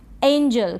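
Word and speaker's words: angel: Next है एंजल। क्या है एंजल? इसको एंगल ना पढ़ें। इसमें कंफ्यूजन काफी होता है। एंगल और एंजल में स्पेलिंग में भी होता है।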